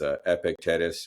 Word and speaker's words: Epictetus: like old people, like I want to say his name right. It's Epictetus.